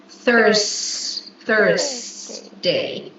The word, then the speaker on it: Thursday: Be careful with the pronunciation of this day because it's it's not T, it's Thurs- Thurs- day.